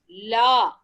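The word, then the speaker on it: ल: When you tell, pronounce and see la, is the tongue touching your teeth?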